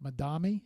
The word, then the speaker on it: Madame: Madam, is that am I saying it right? Madame almost like Madam, right?